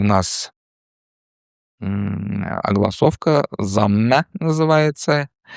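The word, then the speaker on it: ضمه: По-русски еще «дамма» называют, потому что звук, которого она пишется ее название пишется на арабском, и «д», и «з» может быть прочитано. Но в татарском принято читать ее как «замна».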